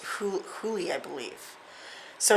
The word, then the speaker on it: Hole: It's spelled Harry Hole, but it is pronounced Huli, I believe.